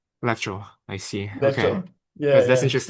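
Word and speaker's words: leczo: What, how do you pronounce the Polish vegetable soup? Lecho. Lecture.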